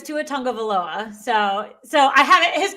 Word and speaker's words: Tua Tagovailoa: Yeah, but it's Tua Tagovailoa.